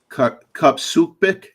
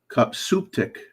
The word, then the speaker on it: Cupsuptic: It's at Kupsupik. No, I'm pronouncing it wrong. Kupsuptik.